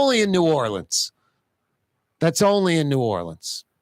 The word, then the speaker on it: New Orleans: And the new is spelled N-E-U, by the way. N-E-U. Orleans, double E. Double E. New Orleans.